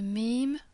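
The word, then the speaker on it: م: it and to the mim after it. Alif, the letter A, can only ever be connected to letters that come before. Mim, again the pronunciation is easy. It's like M in mouth or mouse.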